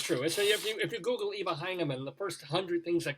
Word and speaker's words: Eva Heinemann: I'm sorry, Eva Heinemann.